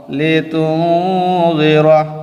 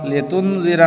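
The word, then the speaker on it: لِتُنْذِرَ: জের র জবর র লেতুরা লিনজিরা না বলে লিতুরা নুনকে একটু লুকিয়ে পড়তে হয় নুনে স্পষ্ট উচ্চারণ না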